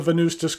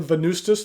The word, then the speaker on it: Venustas: go over the parts and features of the venustas carbon tea talk about what I care for